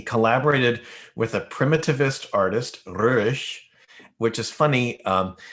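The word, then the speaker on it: Roerich: He has a Russian name, a French name, a German name, and different pronunciation through each. But I use Stravinsky's pronunciation. He always called him Röhrisch when he talked about him.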